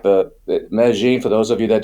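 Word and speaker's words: Medellín: they also like the Meine for those of you that don't know some people call it medalin it's two L's but they don't know how to pronounce it it's called it's Meine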